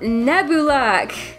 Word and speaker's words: Nebulak: Whew, we've got Nebulak. That's how it's pronounced.